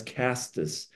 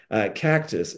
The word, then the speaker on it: castus: it's called Vitex Agnus castus uh Cactus no castus excuse me that that's